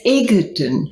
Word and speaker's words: Egerton: I think it's pronounced with a D, but there isn't a D.